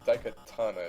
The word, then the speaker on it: Daikatana: Because honestly, when I raced him in the last tournament, we did that Daikatana, is that how you say it?